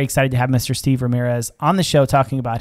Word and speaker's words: Ramirez: on the podcast it's ramirez right did i pronounce that correct you do as well as i can because i pretty much say y'all so let's see i've